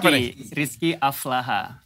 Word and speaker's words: Aflahah: Rizky Aflaha. Bacanya apa nih?